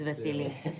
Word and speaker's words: Vasiliy: It's Vasily.